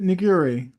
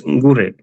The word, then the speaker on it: Ngure: Niguri. It's Ngure. Nguri. Okay. Ngure, yeah. And it's quite difficult to